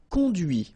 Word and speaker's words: conduit: And that's when you hear the difference between conduit, because remember, final T is not pronounced, conduit, here, and then the feminine, conduite.